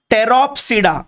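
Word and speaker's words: Pteropsida: ठीक है, एंड the last class is called as टेरोप्सिडा। Again P silent, इसे कहते हैं टेरोप्सिडा।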